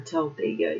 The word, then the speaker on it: Talladega: involving the noose and the Talladega Superspeedway or Talladega.